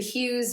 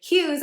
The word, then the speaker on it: Hughes: Hughes, obviously it's rhyming with Dews, but Hughes is my homage to